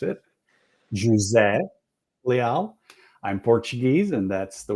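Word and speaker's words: José: Jose or as Christine knows how to pronounce it J Le I'm Portuguese and that's the way we pronounce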